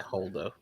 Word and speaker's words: Holdo: emilyn Holo yes Holo is that how you spell it h o l o at the end yeah holdo all right I I'm gonna throw her in